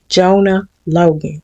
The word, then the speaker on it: Jonah Loigan: So how it's pronounced is Jonah Logan.